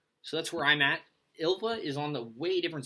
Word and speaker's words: Ylva: I always mispronounce the name. I always say Ylva. It's Ylva.